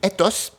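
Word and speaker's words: ἦθος: Et conduite à tenir, en grec ancien, ça se dit ethos, ça se prononce comme ça, et c'est le mot qui est à la base de éthique.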